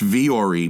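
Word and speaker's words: Vuori: versatile clothing on the planet and it's it's pronounced vre but it's spelled v-u-o-r-i so v-u-o-r-i dot-com slash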